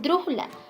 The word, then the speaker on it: brújula: a la abierta ese es brújula porque lleva acento en la antepenúltima sílaba y evidentemente lleva tilde